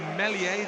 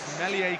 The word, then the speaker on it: Meslier: So Meslier, the S apparently is silent. Meslier comes in for his first championship start in place of Kiko Casilla.